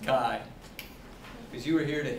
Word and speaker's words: chi: pronunciation right it's pronounced Kai that a lot of people mispronounce it as chi-square or chai square but it's the Greek letter Chi like you see on the sides of sorority buildings right so a capital